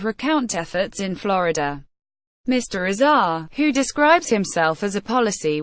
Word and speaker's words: Azar: Azhar rhymes with pace are joined Lily in 2007 and